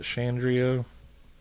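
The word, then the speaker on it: Shandera: In December of 1984, Los Angeles TV writer, producer Jamie, was it Shandria or Shandria? Spell it for us. It's s h a uh n d e r a.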